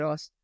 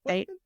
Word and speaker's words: Astin: Not Austin. Aston. Is it spelled like Aston? Astin. Astin. Yes.